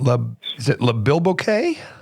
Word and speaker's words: Le Bilboquet: at the Beacon back in Jupiter suf at Le bilboquet lequ yeah yeah got it right I was